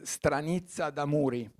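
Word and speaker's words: Stranizza d'amuri: let me know if I pronounce this uh pronounce it right is stranitza damuri okay perfect okay my the fact of my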